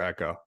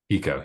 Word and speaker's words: Eco: And is it Eco or Echo? Eco. Yep. Eco.